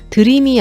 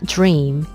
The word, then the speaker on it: dream: 이 주인 같은 경우에도 즈 소리가 살짝 들어가면서 드림이 아니라 주 잉 주인 이런식으로 발음을 하게 되는데요 그렇다고 너무 일부로 질소를